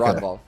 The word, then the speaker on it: Ragnvald: Ragnvald? The G is silent according to Tristan. Ronvald? Yeah, Okay. Ronvald.